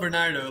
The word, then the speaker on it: Bernardo: It's called Bernardo, like Bernard.